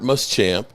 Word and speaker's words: Muschamp: Uh coaches, the Cowboys are hiring, uh Chargers defensive quality control coach, Robert Muschamp. Uh sources, Huh? Did I mispronounce it?